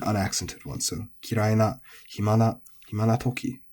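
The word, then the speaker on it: 暇: And then hima is flat, which, seems to be relatively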